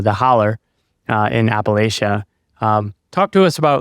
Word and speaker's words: Appalachia: So like you said, I grew up in rural Appalachia, right? That's how we pronounce it and one of the jokes that people will say is, if you pronounce it Appalachia, I'll throw an apple at you, right?